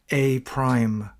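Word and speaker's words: A′: an apostrophe where a the apostrophe is is pronounced a prime that little prostop means so we call that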